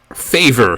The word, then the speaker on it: favor: but it becomes favor the a is pronounced more like an ah rather than an a or rather than a as it is in english so instead of feyvor favor we have fa vor favor tractor becomes tractor